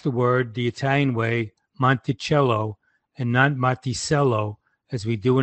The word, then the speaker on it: Monticello: Mountain because it wasil Small Mountain and even pronounced the word The Italian Way Monticello and notello as we do in America Today